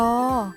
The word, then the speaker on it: ย: ค่ะ ตัว อะไร เอ่ย ย ยักษ์ ค่ะ ออก เสียง ว่า ยอ เก่ง มาก ค่ะ กลับ